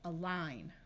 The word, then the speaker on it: align: the sound of n the a is at the beginning of a word and a at the beginning of a word often schwas and takes on a muffled a sound this I will be long so this word is align the rest of this